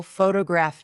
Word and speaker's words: photograph: For example, photograph noun is stressed on the first syllable. Photographic adjective is stressed on the third.